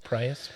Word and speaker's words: Proyas: Proyas. Proyas.